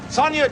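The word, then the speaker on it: Sonja: Sonia, teach the kid the part. Know it by the time I come back, Junior, or you're fired. I'm Sonia. Sonia spelled with a J, but pronounced like a Y.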